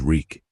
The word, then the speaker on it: Reek: My name is Reek. It rhymes with cheek.